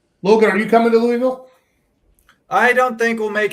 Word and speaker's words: Louisville: Logan, are you coming to Louisville?